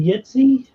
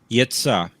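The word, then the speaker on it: Jitse: stuff what's his name yitzi yitzha it's a j-i-t-s-e where is that where is he from the they pronounce the j with the y i like the bees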